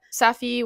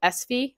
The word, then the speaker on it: Safi: you can go to Safi which a local to this is actually called SV so apparently you don't pronounce the a anyways I'm sure a